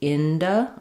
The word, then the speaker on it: into: So we tend to reduce this ooh sound and change it to awah. And for the n inda or into, we can use either a du uh or a t sound here. Um I'll write it as ind. I don't think he's into that. Um so you can also use a t- sound there, but basically you don't want that clear oo vowel anymore.